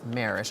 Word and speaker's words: Marash: Harris New Mexico and excuse me it's marish I'm sorry for mispronouncing your name David thank you so much